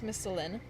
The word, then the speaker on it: Misthalin: Well, the story of the River Selve and how it protects Misthalin... am I pronouncing that? Misthalin. Yes, I am pronouncing that right.